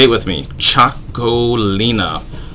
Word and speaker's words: Txakolina: Txakolina. Yeah, say it with me. Txakolina. It is spelled with a TX, but it's pronounced like a CH. So you can impress your friends by them saying Texacoli or something like that,